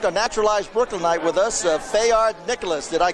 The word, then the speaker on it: Fayard: And we have, I think, a naturalized Brooklynite with us, Fayard Nicholas. Did I correctly pronounce it? Fayard Nicholas of the Nicholas Brothers. Yeah. Right. Fayard. It's a French name.